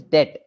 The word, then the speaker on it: debt: Okay, actually, the second one is date, and the first one is debt.